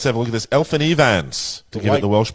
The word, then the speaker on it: Elfyn Evans: Elfyn Evans, to give it the Welsh pronunciation.